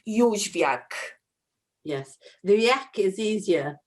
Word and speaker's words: Jozwiak: It's a very Polish surname, and it's pronounced Jozwiak.